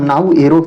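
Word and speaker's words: Naoero: और विदेशों में आमतौर पर नाउ के उच्चारण से जाना जाता है। यह नया नाम नाऊ एरो से बोला जाएगा।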